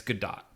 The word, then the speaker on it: Gadot: you said uh gal gadot joins and i really love her and is it gadot or gado it's good dot yeah okay it's not french i've heard media say